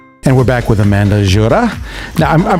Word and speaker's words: Gjura: we're back with amanda jorah now i'm pronouncing your name correct right i'm pronouncing your name correct right yes okay i roll my r's i love it because i'm greek keep it uh and